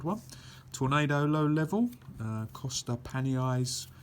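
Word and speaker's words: Costa Panayi: tornado low level uh cost pan eyes that's how you pronounce his name uh excellent 3D shooter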